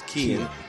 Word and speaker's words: Kean: I hear folks pronouncing his name as Kean. Yep. Like when I get home, I'm putting the key in the door.